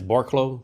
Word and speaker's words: Barclo: It's barlo.